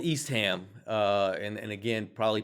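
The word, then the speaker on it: Eastham: Um I can tell you that the locals pronounce it East Ham. East Ham.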